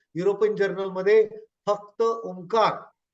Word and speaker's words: ओम: या आवाजा का उच्चार ओमकार चांटिंग ओम या आवाज उच्चारण अ उ म आणि अर्धी मात्रा असा